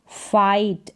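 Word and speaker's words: fight: है यह आई है आई जी एच टी आइट जैसे फाइट एफ को फ और आई जी एस टी आइट फाइट अब इसको फिट करके नहीं पढ़ेंगे फिट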